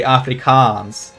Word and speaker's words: Afrikaans: Like, it's a long A, so it has two A's in it because it's pronounced a long A, Afrikaans.